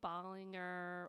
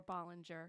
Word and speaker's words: Ballinger: of our listeners absolutely my name is Ballinger or Ballinger you can pronounce it either way yeah um I've